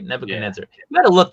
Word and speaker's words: Nebuchadnezzar: Nebuchadnezzar, right? Nebuchadnezzar.